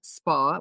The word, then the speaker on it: Spahr: So Spa is my name with spelled s p a h r like the pronounced like the spa like the health supermarket like the supermarket in the UK.